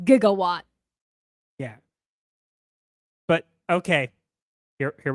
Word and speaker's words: gigawatt: the hell is a jigawatt gig it's actually pronounced gigawatt yeah but okay here